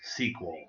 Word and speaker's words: SQL: Okay, so again, it usually is going to be abbreviated as SQL, the letters SQL, but pronounced as sequel, like a second version of a movie.